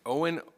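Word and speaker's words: Eoghan: So as Councilmember Robertson mentioned, we took, his name is Owen O'Regan. It's spelled E-O-G-H-A-N. So everybody wondered like how it's pronounced.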